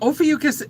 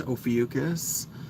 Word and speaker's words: Ophiuchus: Now, Ophiuchus is a constellation.